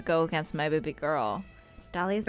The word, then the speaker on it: Dahlia: Dahlia's most mysterious and alluring trait is the silent H in her name.